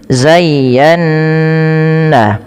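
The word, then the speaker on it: زَيَّنَّا: Cara membacanya yang pertama ya dilembutkan zayya baru ditekan lagi ke nun zayyan.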